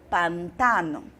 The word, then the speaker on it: pantano: os pântanos mesmo significado mas no espanhol eu falo Pantano Pantano mudou aí a sílaba tônica Observe que na nossa